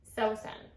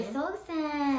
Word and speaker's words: Sawsan: So the correct pronunciation is Sawsan. Sawsan. Yeah. Oh my gosh. So it's Sawsan. Yeah, Sawsan. Is that what your mom calls you? That's what all my family and people that are Middle Eastern, when they see my name, they know that name. So Sawsan. Sawsan is how you say it.